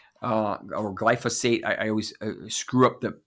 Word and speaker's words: glyphosate: stronger and and the first one is is glyphosphate uh or glyphosate I always screw up the the pronunciation for this so this is these toxins